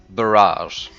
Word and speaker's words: barrage: Is it parrot? What does a dictionary say? So I guess it is barrage.